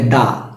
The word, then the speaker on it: the: তেমনি প্রথম সাউন্ডের ক্ষেত্রে যদি কনসোনেন্ট হয় তাহলে উচ্চারণ হবে দা রাইট আর যদি প্রথম সাউন্ডটা হয় ভয়ে ভয়ে